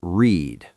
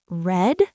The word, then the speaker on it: read: Wait, red? It sounds like the color red?